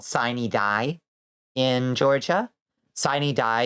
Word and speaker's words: Sine Die: Sine Die is a mispronunciation of the Latin phrase for the in like the last days, basically the last day or ending of days. It's the apocalypse in the Georgia legislature, but for some reason they traditionally pronounce it Sine Die, Sine Die.